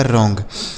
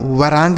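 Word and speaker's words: wrong: यहां पे बच्चों डब्ल्यू साइलेंट है। यहां पर भी डब्ल्यू साइलेंट था। इसको हम वराइट नहीं पढ़ेंगे बल्कि राइट पढ़ेंगे। क्यों? क्योंकि यह डब्ल्यू साइलेंट है। उसी तरीके से इसे हम वरांग नहीं पढ़ेंगे। रॉन्ग पढ़ेंगे।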